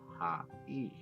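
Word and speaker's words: はい: The word hi is actually pronounced ha-e.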